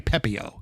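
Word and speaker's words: Pepiot: By the way, I do want to mention the the pitcher that I forgot how to pronounce it. It's Ryan Pepio.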